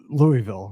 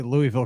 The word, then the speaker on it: Louisville: you meet people that Louisville right I say Louisville Kentucky no Louisville yeah you know your poser if you say that right if you're not from there because I I try